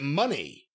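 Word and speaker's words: Moné: Mercedes Mone. Well, yes. And actually, she pronounces it money, if you noticed, when she was talking.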